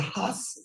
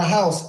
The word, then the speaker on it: Haus: So tell us what's next for the Haus. It's House or is it Haus of Artistry? How do you pronounce it? Right, you're right. It's the House of Artistry. The House, Haus.